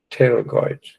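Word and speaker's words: pterygoids: massitor lateral and media terragoids. The P is not pronounced terragoids. So I said be able to identify the locations. There's the temporalus and the massive. See these are the terragoids to be able to move our jaw.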